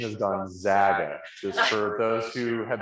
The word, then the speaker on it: Gonzaga: you you can and it is gonzaga the pronunciation is gonzaga just for those who have been watching espn and hear them say gonzaga which is incorrect it is not gonzaga right